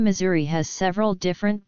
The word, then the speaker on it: Missouri: Assuming Missouri were deriving from the Siouan language, it would